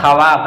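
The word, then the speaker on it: خواب: तो खवाब खवा दरखवास ये लिखने में वाबज़ आते हैं। लेकिन पढ़ने में वाब को साइलेंट करते हैं। साइड करते हैं। हटा देते हैं। बोलते नहीं है।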